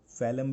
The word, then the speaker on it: phloem: फैलम भी कह सकते हो अगर प्रोनाउंसिएशन परफेक्ट आपको चाहिए तो.